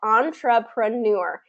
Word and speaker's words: entrepreneur: about this is that the word stress is in the final syllable which um which in french words that's tends to be the case that final syllable gets in french words tends to get a lot of the stress and so in this case we have kept that kind of the american pronunciation has kept that final syllable stress pronunciation of it i